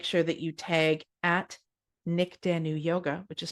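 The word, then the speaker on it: Nyk Danu: and just make sure that you tag at Nick Danu Yoga, which is spelled NYKDANU Yoga, or at Yin Yoga Podcast, so that I can share the love.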